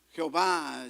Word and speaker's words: Jehová: Jehová, Yahvé, como querramos pronunciarlo.